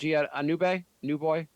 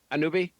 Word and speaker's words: Anunoby: It was like we're gonna get OG on a board, whatever his how do you pronounce his last name? OG Anube, new boy. Anunoby? Anunoby, and like we're gonna get him.